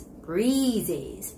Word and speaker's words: breezy: vowel sound it's not breezy it's not breezy its breezy breezes so it's gotta be long vowel e sound okay so it's